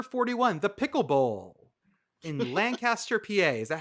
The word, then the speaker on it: Lancaster: So spinning it, and we are at the number 41, the Pickle Bowl in Lancaster, PA. Is that how you pronounce it, Lancaster?